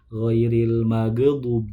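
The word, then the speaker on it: غير المغضوب: Sedangkan sudah kita ketahui huruf gha atau ghin itu bukan huruf qalqalah, maka tidak boleh dipantulkan ghairil maghdub, tapi yang betul ghairil dialirkan suaranya. Suara huruf ghinnya dialirkan, bukan dipantulkan.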